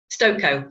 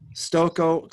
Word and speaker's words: Stokoe: Stokoe rhymes with cocoa. Stokoe.